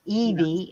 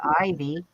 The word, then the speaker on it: Ivy: have said Aina and a lot of people pronounce my name Evie instead of ivy wow lead to that